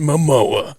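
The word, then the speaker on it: Momoa: Jason Mimoa. Jason Mimoa. Jason Mamoa.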